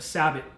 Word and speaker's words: sabot: of the bullet and that's what you call a sabot or a sable I've heard it pronounced two different ways now the power belts